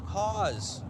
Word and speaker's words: Hawes: Allie Hawes, pronounced Hawes, just like pause, but with an H at the beginning.